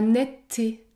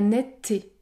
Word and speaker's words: netteté: m long ou encore la netteté la nette le E disparaît les deux T sont côte à côte et je prononce un t long la netteté la lettre E peut